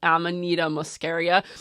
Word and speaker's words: Amanita muscaria: also been working with a beautiful mushroom called amanita muscaria i said it right joseph i like it